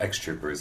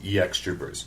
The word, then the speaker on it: EX Troopers: It's not X Troopers. It is EX Troopers.